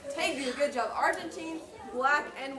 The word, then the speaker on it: tegu: It rhymes with ragu. The black and white Tegu, good job.